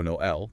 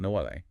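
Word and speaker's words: Noël: It forces you to pronounce them separately. So Noel, not Noelle.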